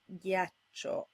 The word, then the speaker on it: ghiaccio: to get a hard G sound like in ghiaccio.